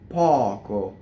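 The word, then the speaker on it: poco: Per pɔco, O, open O.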